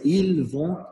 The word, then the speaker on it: ils vont: Il ne faut pas prononcer le z, c'est ils vont, elles vont.